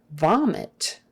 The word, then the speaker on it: vomit: we're almost done okay vomit with a V not a b v vomit the I is short it don't say vomit that will give you away vomit I has to be a short I don't do e don't do I vomit uh okay Ward